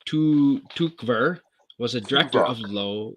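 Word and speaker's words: Tykwer: while good vibes okay tom twerker pronounced tu tukver was a director of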